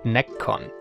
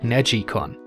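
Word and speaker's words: NeGcon: later it's a controller often called necon like neck but apparently the right pronunciation would be something like neicon since it seems to refer to to the Japanese word nilu which means to twist and that's also exactly what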